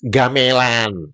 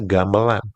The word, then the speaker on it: gamelan: Misalkan seperti ketika kalian mengucapkan kosakata gamelan. Banyak kita mendengar warga Maledas menyebutnya apa? gamelan. Padahal seharusnya gamelan bukan gamelan. Itu menunjukkan kalian bingung. Ini diucapkan e pepet atau etaling.